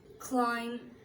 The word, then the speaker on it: climb: Aplomb, bomb, climb, comb, crumb, debt, doubt, dumb, jam, lamb, limb, plumber, succumb, thumb, thumbs up, bomb, tom. এইসব ওয়ার্ডগুলোতে বি উচ্চারিত হয় না।